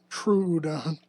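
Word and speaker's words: Troodon: Trrodon. Oh, okay. What? That was that was pronouncing it as an oo. Trudon.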